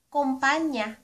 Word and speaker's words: kompanya: Company ----- Kompanya.